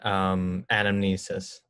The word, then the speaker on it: anamnesis: And anamnesis.